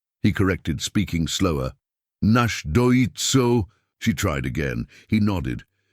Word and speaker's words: Náshdóítso: Mary attempted to repeat it, stumbling over the pronunciation. His mouth curved slightly, not quite a smile, but close. "Náshdóítso," he corrected, speaking slower. "Náshdóítso," she tried again.